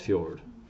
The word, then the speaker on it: fjord: okay it's both pronounced fjord alright and the FJ comes from the Scandinavian version alright so places like